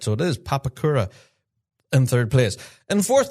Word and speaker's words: Papakura: Yeah, I actually watched back at the live stream this morning to make sure I got the pronunciation of that correct. So it is Papakura in third place.